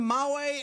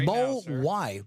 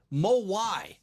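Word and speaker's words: Mawae: how about that man there it is Kevin Mau and 200 bucks well done that is H one last TR mo why Bob what is that mo why oh oh the pronunciation thank you moai Kevin Mo thank Bob Bob knows what I'm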